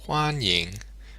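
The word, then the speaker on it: 欢迎: she pronounce this correctly start off by thinking of the word one now let's drag it out a bit and try and hold it steady one now add a little H to the front it's pretty small almost a silent H so let's say one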